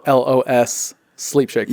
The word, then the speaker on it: Los Sleep Shakers: And that's pronounced, or that's spelled LOS Sleep Shakers, Yeah, right?